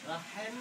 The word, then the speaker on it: রহিম: আবার তো রহিম বলছো, কি বলতে হবে? রহিম, আগলের মাঝখান থেকে উচ্চারণ। রাহেম না, রহিম বলো।